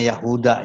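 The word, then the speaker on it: اليهود: Bacanya Yahuda ya, karena ya ahlal kitab, ahlal kitab.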